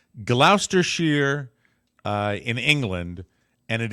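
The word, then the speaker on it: Gloucestershire: let me see if I've got the correct pronunciation here it's Glouster Shear uh in England and it is the I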